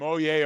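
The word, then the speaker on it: Oyez: in a little link to this website called oh yeah it's pronounced or spelled o-y-e-z but it's actually one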